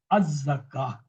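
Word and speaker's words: الزكاة: But if I'm stopping, this ta will change into ha. This ta will change into round ha. We will say az-zakah.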